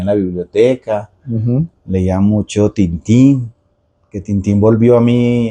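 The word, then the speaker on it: Tintin: libros que leía me gaba sí me encantaba tintín de hecho aprendí hace poco que era tanan toda la vida la pronunciación es porque él es él es belga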